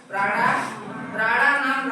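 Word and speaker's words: प्राणानां: ऊपर बिंदी म का उच्चारण होगा तो हो गया क्या? प्राणानाम रक्षणम।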